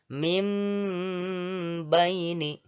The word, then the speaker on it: min baini: Sekali lagi, tulisannya min baini. Tetapi dibacanya mim baini. Sekali lagi, mim baini. Jadi huruf N pada kata min ditukar bunyinya menjadi sehingga dibaca mim.